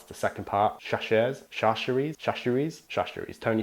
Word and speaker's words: Chachere's: I'm gonna say Tony C's because I don't know how to pronounce the second part. Chachere's, Tony Chachere's.